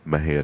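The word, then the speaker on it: Mexia: sent to MJ audio theater 923 East Main Mejia Texas my hair is spelled m-e-x-i-a the ZIP code 7667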